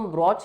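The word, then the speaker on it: brooch: बी आरओ ए सीच अब दोनों को प्रोनाउंस तो ब्रॉच ही करते हैं ठीक है बट दोनों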